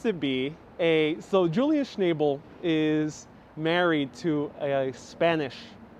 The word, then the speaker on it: Schnabel: rise that high devotee says his name is pronounced schnabel schnabel schnabel hey jose thank you so much for a